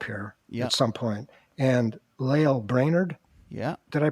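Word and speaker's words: Lael Brainard: And Lael Brainerd, did I pronounce that right?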